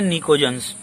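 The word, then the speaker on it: pnictogens: अब इसके बाद आता है निकोजन्स। क्या जी? निकोजन्स। निकोजन्स होते हैं, देखो निकोजन्स की एक खासियत बताऊं मैं आपको। लिखा हुआ तो निकोजन्स है, लेकिन स्टार्टिंग पी से होगा, पी साइलेंट है इसमें।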